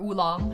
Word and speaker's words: oolong: But Tieguanying is a type of oolong, or oolong, as I think I've heard Americans say it.